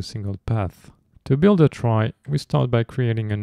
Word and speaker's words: trie: a try is a Tre data structure used for storing and efficiently searching for Strings it comes from the word retrieval but is pronounced like try to differentiate it from tree they are also called